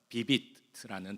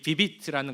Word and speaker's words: Vivit: 어, 그 단어는 어떤 단어냐면 오늘 주보에도 나오고 아까 화면에도 나왔던 비비트라는 단어입니다. 비비트 어떤 의미일까요? 비비트 이게 뭘까라고 주보를 보시면서 혹시 생각하셨습니까? 자, 이거는 라틴어인데요. 비비트라고 읽습니다.